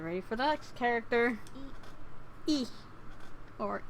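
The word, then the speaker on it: え: E. Or E. The equivalent of the vowel I in English. You pronounce it as E. E is a short vowel.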